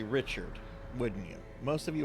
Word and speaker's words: Richard: You say, if you say Richard in reference to someone's like last name, you're gonna fucking piss them off because it's pronounced here Richard.